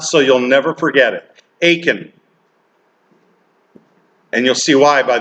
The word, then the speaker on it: Achan: And here's the best way to pronounce it so you'll never forget it. Achan.